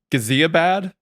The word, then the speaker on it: Ghaziabad: It all started in Ghaziabad. Is that how that's pronounced?